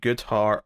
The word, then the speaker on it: Goodhart: Batgirl issue 7, Tape BROMBAL writing with ISAAC GOODHART on the art. And that rhymed because his name rhymes with art.